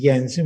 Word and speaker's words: Jensen: in comics analysis but correct spelling her pronunciation is jensen because he was a danish mathematician who published one of